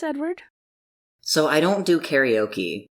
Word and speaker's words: karaoke: So I don't do karaoke, or karaoke, as it's actually supposed to be pronounced.